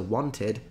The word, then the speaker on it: wanted: But if there is a T, you fully pronounce ED, so wanted is correct.